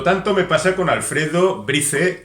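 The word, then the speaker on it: Bryce: Otro tanto me pasa con Alfredo Brice o Brice Echenique. Él tampoco se pone de acuerdo con cómo se pronuncia su apellido. Incluso podríamos pronunciarlo en francés Brice.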